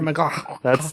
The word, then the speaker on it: McLachlan: Sarah McLachlan. That's how you do it. That's how you pronounce those names.